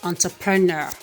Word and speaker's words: entrepreneur: pronounce this one as interpreter but the right pronunciation is entrepreneur i want to be an entrepreneur okay the